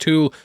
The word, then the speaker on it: Thule: We can also catch a sign which says Thule Station, though I have been told it's pronounced Tool, which itself has its own meaning.